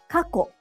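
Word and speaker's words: 過去: For example, kako and kakko. Kako means past. It doesn't have a small tsu, and so it's pronounced in 2 syllables.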